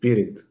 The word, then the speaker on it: Pirin: It's pronounced Pirin. Pirin. Yes, like Kirin, or the Yeah, the like horse. the Japanese Unicorn. celestial hosts. Yes, Yeah. dragon unicorns, like Kirin but Pirin.